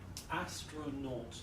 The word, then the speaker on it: astronaut: you write the word astronauts three syllables where's the stress the beginning yeah astronaut astronaut good okay now can you